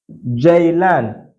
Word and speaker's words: ceylan: This letter is called J. J in Turkish language. It is called J. For instance, we have Ceviz. Ceviz. Ceviz. We have Ceylan. Ceylan. That is how you are going to pronounce this letter. Anywhere you see it. J. Ceviz. Ceylan. Alright?